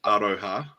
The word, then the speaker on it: aroha: on your Mai pronunciations it's aroha ARA Kenny and it me and Mario it means love it's love you there you